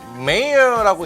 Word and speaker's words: mayor: 자, mayor라고 읽고요. 명사로 시장입니다. major와 헷갈리시면 안 됩니다.